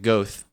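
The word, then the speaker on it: Goethe: do you spell that Guta uhhuh g o e t h e mhm gut GAA that's the uh there's a street in shago everyone pronounces it ghost oh that's I haven't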